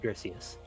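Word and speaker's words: Griseous: It's pronounced Grisius.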